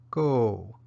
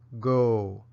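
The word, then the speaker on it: ကို: the syllable proceeding and the particle for going to some place is pronounced go or go both particles are placed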